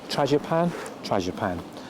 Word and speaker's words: Tragopan: It's the pronunciation is correct, Tragopan.